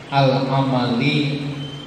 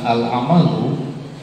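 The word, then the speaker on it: الأعمالِ: Bukti syukur itu ai al-amali bitaati, berbuat ketaatan. Dibaca al-amali bukan al-amalu, karena mengikuti asyukri dalam keadaan dijarkan. Karena bisyukri di situ ada ai tafsiriyah, maka kemudian di sini dibacanya al-amali.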